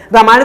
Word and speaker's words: राम: तो हम ये कहें कि वो राम है, रामा नहीं है, वो महाभारत है, महाभारता नहीं है।